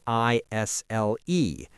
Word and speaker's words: aisle: The word is spelled A I S L E, but the S is silent.